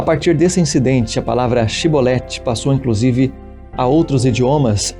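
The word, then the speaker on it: shibboleth: pronunciasse a palavra shiboleth se não fosse capaz de dizer bem a palavra e pronunciar-se por exemplo cebolete em vez de shiboleth ficava claro que estava mentindo nesse caso era morto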